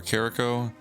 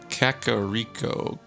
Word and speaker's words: Kakariko: going to kakariko village i keep calling it kakariko or carico and it's kakariko kakariko carrot cake it's kakariko i'm pretty sure is the right way to say it but i always call